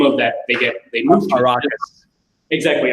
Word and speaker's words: Arrakis: In Dune, for example, the big limitation on the planet, which I can't pronounce the name of, that they move to. Arrakis. Exactly, Arrakis.